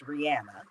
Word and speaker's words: Rihanna: So first of all, correct me if I'm wrong, but I believe we've been pronouncing her name wrong all this time, and it's actually pronounced Rihanna.